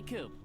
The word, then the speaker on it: Coop: you can call me coop coop that rhymes with scoop i think we're gonna